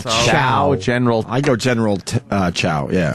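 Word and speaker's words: Tso: I go General Chow. Yeah, It's not Tao. Yeah. Sao.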